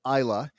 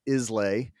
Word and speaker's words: Islay: And ended up on Islay, which most Americans pronounce Islay, but that's an island off the west coast